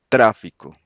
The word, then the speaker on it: tráfico: showing where the stress falls when it doesn't follow the usual pattern next to to the last syllable. So examples: tráfico. Tráfico.